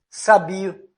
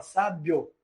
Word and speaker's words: sábio: caso da palavra sábio nós não pronunciamos sabio se nós tentarmos assim por exemplo eh para fazer um um teste Ah vamos ver se se se é crescente ou decrescente nós percebemos que você fala sábio você não fala sabio